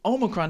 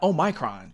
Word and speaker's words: Omicron: I mean, if you went to college and you were exposed to Greek organizations, you should know it's Omicron, not Omicron.